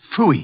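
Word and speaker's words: pfui: It can be spelled in several ways. I spell it P-F-U-I. Fooey.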